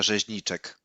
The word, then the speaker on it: Rzeźniczek: I can help you with pronunciation of the name because I believe it's this is the Polish one. So Mrs. Beata Rzeźniczek.